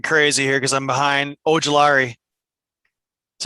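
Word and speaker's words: Ojulari: to get something crazy here because i'm behind ogilari is how you say it yeah edge rusher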